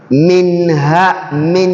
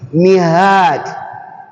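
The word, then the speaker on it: مِنْ هَادٍ: When I say min hadi, it's not going to be mihad. Can you see? It's not going to be mihad, but it's going to be min. The Nun Sakinah is going to be pronounced clearly.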